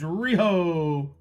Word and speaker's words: Rojo: Rojo, it's called. Richard G says Rioho.